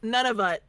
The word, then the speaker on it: Nunavut: And I want you to pronounce the last one. Nunavut.